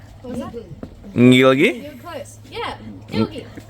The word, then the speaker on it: Ngilgi: Gilgi? You were close. Yeah, Nilgi. So Nilgi is how we pronounce it. The first G is silent.